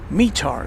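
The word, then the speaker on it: METAR: DFW and the envoy Pilot lounge and it's pronounced mear so thank you ascending Dragon one our resident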